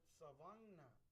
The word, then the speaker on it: Savangna: pioneer cemetery called the Savannah. Well, that used to be called Savangna before. But when the Anglos came here, they could not pronounce Savangna, so they changed it to Savannah.